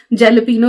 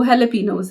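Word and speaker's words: jalapeño: यहां पे आए तो जेलपिनो लिखा हुआ है तो हम जेलपिनो बोलते थे। फिर मुझे बताया कि जेलपिनो इसकी प्रोनाउंसिएशन जो है वो हेलोपिनोस है। तो फिर मैं हेलोपिनोस बोलने लगी।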